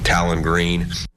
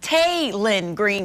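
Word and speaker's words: Taylen Green: his name but uh Talon green I I mean I guess that was close uh by the way it's tayin green coach exactly like it's spelled welcome in to your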